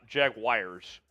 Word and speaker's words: Jaguars: overall to the Jacksonville Jaguars how do you say Jaguars by the way Jaguars Jaguars uh I I get corrected by uh Sam Brown during Alexis it's not Jaguars Jaguars oh yes Jaguars they might as well